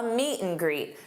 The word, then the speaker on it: meet and greet: Notice how I pronounced an. When you have an between two nouns or two verbs, you can pronounce it just as m. Meet and greet. You can absolutely say meet and greet, but that's not how a native would say it.